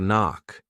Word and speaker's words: knock: Well, you can do the same thing with bada bada bada knock. The K is silent and off because they go together.